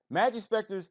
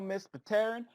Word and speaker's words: Majespecter: Starting with Majespecter, I am just pronouncing the P because it doesn't really sound right saying just Terran. It's possible that the P is silent, Enigma, but I'm going to pronounce it regardless.